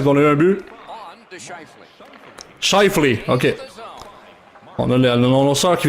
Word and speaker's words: Scheifele: Chose du genre, je sais pas comment le prononcer. Je pense que c'est Schiffley. En tout cas, c'est pas important. L'important c'est qu'on a eu un but. Scheifele, ok.